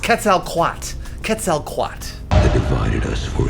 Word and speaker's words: Quetzalcoatl: It's pronounced Quetzalcoatl.